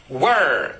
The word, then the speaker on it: were: غلط. النطق الصحيح were. Were.